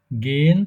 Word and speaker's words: gehen: গেন তারপরে Gehen Sie Gehen না Gehen Sie গেহেন না, শোনেন, গেন জি am Sonntag ins উচ্চারণটা হচ্ছে am Sonntag ins Stadion.